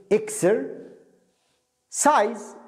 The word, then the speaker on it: exercise: exercise سايز الذي يقول كلمة نطقها صعب اقسمها كلمتين اكسر سايز اكسر سايز يتمرن ريست